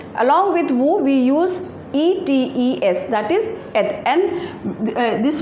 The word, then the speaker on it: êtes: Along with vous, we use E-T-E-S, that is et, and this word is, we do the liaison of this word and the sound become vous êtes, that means you are.